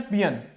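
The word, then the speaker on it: paean: ये बहुत ही important word है, पियन, इसका प्रोनाउंसिएशन है पियन, पियन, ओके।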